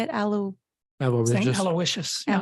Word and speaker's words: Aloysius: Aloysius. Yeah. Aloysius.